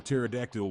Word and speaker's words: pterodactyl: Why can't you hear a pterodactyl when he goes to the toilet? Because the P is silent.